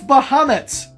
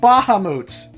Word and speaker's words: Bahamut: him Titus not teetus its bahamut's not ba ha moots see this game thinks